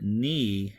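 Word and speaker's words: νι: is an M sound the letter nee has the same issue that me does for English speakers the capital looks just like what it would look like in the Latin alphabet you have that capital and and it's a MM sound however the lowercase looks like a V but that is the n sound the letter C is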